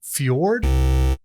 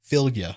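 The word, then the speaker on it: Fylgja: prevent one damage creature blank enchants is it Fjord that is uh I mean like that's close to how you pronounce it it's not fjord but it is it is it is pronounceable philia philia okay okay all right you were close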